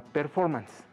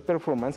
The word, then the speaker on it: performance: Así se escribe, pero se pronuncia performance.